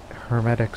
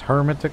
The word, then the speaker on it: hermetic: Hermetic society. By the way, after all these episodes, I've been pronouncing it as hermetic, but no, it's hermetic. It's hermetic, you heretic.